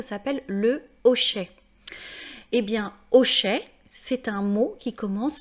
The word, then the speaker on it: hochet: Donc, même si le H est muet, même si le premier son que j'entends, c'est le O, je ne peux pas dire l'hochet, je dois dire le hochet.